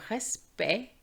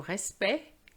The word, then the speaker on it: respect: But be careful because we have le respect and l'aspect. So here we don't pronounce the T. It's not like l'impact. It's le respect, l'aspect, but respecter.